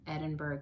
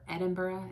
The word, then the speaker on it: Edinburgh: on a 36 count Edinburgh linen or Edinburgh if you say it correctly um and I converted